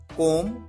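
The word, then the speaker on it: comb: बाल बनाना, कोम, कोम्ड, कोम्ड, कोमिंग। यहां पर आप ध्यान रखिए, बी साइलेंट होता है, बी का साउंड नहीं आता है, कोम।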